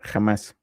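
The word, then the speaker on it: חמס: Esta es la pronunciación en hebreo, jamás. Y si yo me voy al versículo anterior, en donde dice que sus sacerdotes violaron mi ley, aquí esta palabra violaron es la misma palabra jamás.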